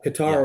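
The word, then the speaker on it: Qatar: world cup um in cutter is it cutter is that how you say it yeah guitar or cutter depending on where you're from sure okay sure so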